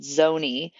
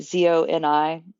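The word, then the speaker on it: Zoni: to be more private called Zony, like Zo Ni. So, I think that's how you say it. Um, Zony, but they have a sea turtle kind of like sanctuary.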